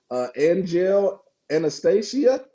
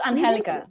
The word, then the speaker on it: Angelica: Angel Anastasia. You did good. It's Angelica.